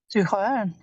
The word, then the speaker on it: zuhören: Zuhören. Listen. Zuhören. Make sure to emphasize the prefix because this is a separable word.